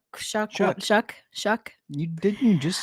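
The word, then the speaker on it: Shough: They drafted a new offensive lineman and drafted uh Tyler uh Shook Shuck.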